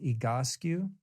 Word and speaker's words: Egoscue: physical therapy program called egoscue spelled ego skew s-c-u-e-e-go-sku pronounced egoscu and i'll put that